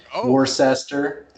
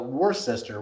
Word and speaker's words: Worcester: massachusetts it's spelled w-o-r-c-e-s-t-o-r worcester so everybody called it war sister worchester nobody could pronounce